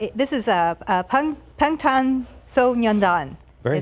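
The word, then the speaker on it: 방탄소년단: This is Pangtan Sonyeondan.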